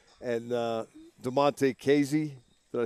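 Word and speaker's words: Damontae Kazee: But some of the complementary types, I'm talking about players such as Arthur Millette and DeMonte Casey. Did I say that right? Yes, you did. I usually worry about getting every pronunciation right once they make the team.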